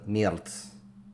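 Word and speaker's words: merde: Out of all the merds that are there, yes, that is actually how you pronounce it, merd.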